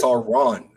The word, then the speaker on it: Sauron: no you're saying s who's the ey that's Sauron you're saying saon San is the wizard that